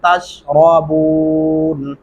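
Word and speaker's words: تشربون: मा अल्लज़ी तशरबून, तशरा नहीं करना, तशरबून।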